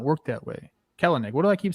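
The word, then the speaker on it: Kelenic: not work that way kell and nick what do i keep saying it's cal neck kill nick two syllables ignore that second name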